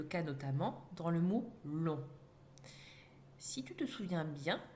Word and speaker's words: long: C'est le même cas pour le mot long, qui, au féminin, devient longue. On entend ici la lettre G.